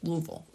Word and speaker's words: Louisville: we hear around here Louisville two syllables Louisville um but we've